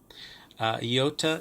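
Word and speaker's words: ἰῶτα: Iota is usually pronounced as E, as in beat, E.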